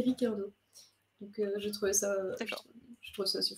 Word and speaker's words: Ricciardo: Et sachez que lui-même le prononce sans le i, il dit Ricardo.